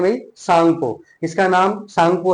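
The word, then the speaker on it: Tsangpo: जी पी ओ बट T silent है यहां पर। तो सांगो रिवर इसको बोला जाता है।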